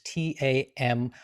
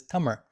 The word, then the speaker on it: Tamil: classical language of tamir usually spelled in english t-a-m-i-l and often pronounced in english tamil which is perfectly fine in english the tamira way of saying it is tummer and this is a